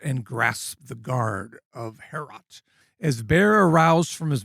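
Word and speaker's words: Heorot: How do you pronounce the mead hall? Herot or Herot? Herot, yeah. Herot.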